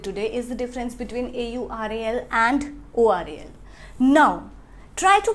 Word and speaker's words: aural: Now when we pronounce this word AURAL, in pronunciation it seems like oral, right?